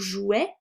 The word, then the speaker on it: jouet: C'est aussi le cas pour jouet. Je le prononce E, pourtant je n'ai pas d'accent.